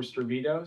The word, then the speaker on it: Stravito: market for Stravito. So John, you did say that correctly. We're Swedish, so I think your pronunciation was right on there, Stravito.